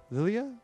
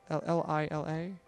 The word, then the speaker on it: Lila: Lilia? L-I-L-A? Lila. Okay. I'm totally horrible about pronouncing names, so.